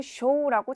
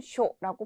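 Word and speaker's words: 所: 또한 이 한자 같은 경우에는 쇼라고 장음으로 발음되는 것이 아니라 단음 쇼라고 발음되는 점 유의해 주시고요.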